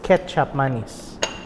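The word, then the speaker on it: kecap manis: thick, sweet soy sauce called KECAP Mise. Okay, or pronounced Ketchup Mise.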